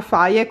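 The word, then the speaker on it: Fage: Non ho trovato quello della Faye, mi avete detto che si pronuncia Faye, quindi ho preso questo.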